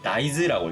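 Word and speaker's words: 大豆: 왜냐면은 대두를 의미할 때, 그러니까 큰 콩을 의미할 때 이 나이즈라고 있거든요. 요게 단골로 시험 문제에 나오는 그런 발음이에요.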